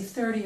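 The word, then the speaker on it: thirty: 13 15 but here when I say 30 or 40 the t is pronounced more like a d okay now I'd like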